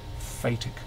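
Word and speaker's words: phatic: Part of the function of communication, and if you want to look up the term, look up the term fatic communication. It's spelled P H A T I C.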